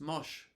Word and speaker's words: mosh: the dance was frequently spelled Mash in fanzines and record liner notes but pronounced mosh as in the 1982